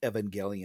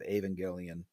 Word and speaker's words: Evangelion: The name of the title is in Japanese. Go and look at how you spell Evangelion in Japanese. Put it into any translator program. I don't care which. Put it in there and play it, and it will say Evangelion.